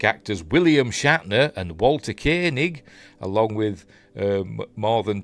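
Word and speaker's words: Koenig: Anyway, joining the voyage are legacy Star Trek actors William Shatner and Walter Kanig along with um more than 20 I always want to say Koig. I know I've heard it pronounced Kanig, but I always think of Commander John Koig from Space 1999.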